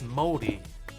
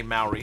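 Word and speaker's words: Māori: And it's moldy. So, like, you can say Maori, New Zealand Maori, but moldy.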